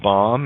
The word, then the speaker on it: bomb: B is silent in bomb and lamb.